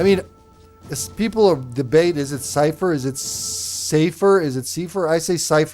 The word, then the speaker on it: Cipher: Cipher spoken like cyber is the correct German pronunciations. Yeah, that's how I'd say it. Cipher. That's how that's how my brain saw it. But some read it as safer.